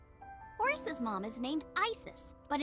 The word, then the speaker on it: Isis: horace's mom is named isis but in ancient egyptian it's pronounced closer to isa or hmm how do